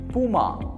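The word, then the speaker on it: Puma: And fifth brand name பார்த்தீங்கன்னா வந்து பியூமா. ஸோ இது வந்து அகைன் வந்து நம்ம வந்து இந்தியாவில் வந்து பியூமா தான் சொல்லுவோம். பட் இது ஒரு ஜெர்மன் பிராண்டு. ஸோ ஜெர்மனில் எப்படி சொல்லுவாங்கன்னு பார்த்தீங்கன்னா பூமா. ஸோ ஹோலி இந்த இன்ஃபர்மேஷன் அந்த வீடியோ லேர்ன் பண்ணிப்பீங்க நினைக்கிறேன்.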